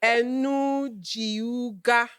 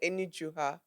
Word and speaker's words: Enujiugha: Jennifer Enujiugha. No, Enujiugha. Hey. The G is silent.